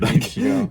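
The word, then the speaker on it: Muichiro: I can't pronounce it. Yeah, you got it right. Muchiro.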